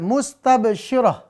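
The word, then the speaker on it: مستبشرة: Contoh lanjut 39, mustabsyirah. Mustabsyirah. Mustabsyirah. Ya. Lalu ayat 40. Ghabar. Ayat 41. Qatara. Dan terakhir 42. Fajara. Pemirsa ya, di 5 ayat ini. Musfiratun, maka dibacanya musfirah. Mustabsyiratun, kalau diwakafkan maka mustabsyirah.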